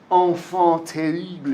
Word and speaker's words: enfant terrible: what he calls the enfant terrible. It's French, so that's how you say it.